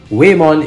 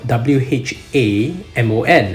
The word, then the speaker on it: Whamon: And case in point, we need to talk about etymology because Whamon is spelled W-H-A-M-O-N, and it's tempting to pronounce Whamon.